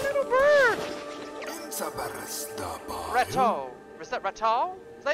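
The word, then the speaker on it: Ratau: Is that Ratal? Is that how you say it? Or Ratu? Fear not! I am Ratu.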